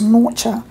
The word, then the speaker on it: Norcia: Unlike the Italian town, which is pronounced Norcia, New Norcia is pronounced New Norcia.